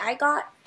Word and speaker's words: Igot: How do you say I got?